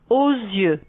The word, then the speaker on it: aux yeux: J'ai mal aux yeux. N'oubliez pas la prononciation.